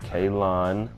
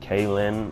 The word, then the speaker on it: Kalon: is Kalon news and that's how you say it Kalon not Kalyn or Rosie oh he like